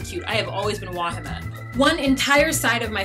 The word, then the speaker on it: Wahima: I have always been Wahima. One entire side of my family just completely says my name wrong. Wahima.